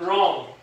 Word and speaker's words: wrong: Good job, 很好。好，那 write down the phonics of ring, deer, hair, ring, deer, hair, and wrong.